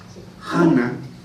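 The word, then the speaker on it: חנה: Hana, como se pronuncia en hebreo, significa gracia.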